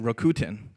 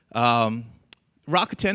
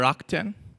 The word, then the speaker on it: Rakuten: First of all, don't pronounce it Rakuten, right? That's maybe the UK version, and they didn't do so well. Rakuten is fine, or Rakuten.